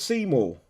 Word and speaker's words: Seymour: Featuring the Warlord Seymour. I am pronouncing that right, ain't I? Yep.